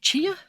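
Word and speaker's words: Tchia: um so pick up I think it's pronounced chia I did a stream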